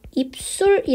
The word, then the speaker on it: 입술: a 유형의 해당 하겠습니다 입 술 발음 어떻게 하나요 입술이 라고 발음 나죠 입술이 입술이 되는 이윤을 앞에 있는 비유 때문에 뒤에 있는 시 5 실상 시 옷이 됐습니다 종성 의 기억 t